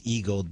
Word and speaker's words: Eag-led: And the name of the company is Eag-led, but it's spelled EAG-LED. It's a play on the word.